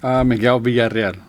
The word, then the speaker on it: Miguel Villarreal: Miguel Villarreal. But how do you say it? Miguel Villarreal.